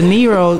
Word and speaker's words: Nero: Because the Nero almost sound like Nemo. No, so man, you got something? Yeah, but every time you ask me that, but it also rhymes with hero too, and which is a great segue.